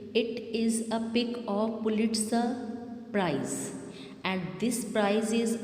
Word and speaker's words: Pulitzer: Its right pronunciation is Pulitzer. R is silent here.